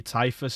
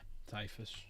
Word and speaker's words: Typhus: Uh, Death Guard is going to be Tyus, isn't it? Is that how you say his name? It's Typhus, isn't it? Yeah, Typhus. Missed out the H.